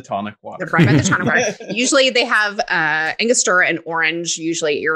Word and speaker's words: Angostura: Angostura. Angostura.